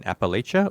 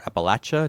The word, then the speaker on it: Appalachia: you guys are in in Appalachia or Appalachia, depending on your preferred pronunciation, and I know your